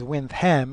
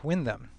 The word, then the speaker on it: Windham: you ever wanted to know why winam is pronounced as winam and not Windam the official story goes that the second Earl